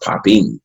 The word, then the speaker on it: Popin: do with the style style is pronounced poppin so that's all I